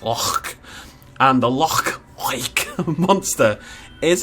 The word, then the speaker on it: Loch: Well, Loch is actually pronounced Loch.